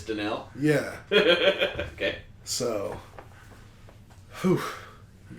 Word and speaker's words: Danielle: It was like Danielle something, and it's spelled basically Danielle. Yeah, Danielle Hunter. Yeah, but it's Danelle.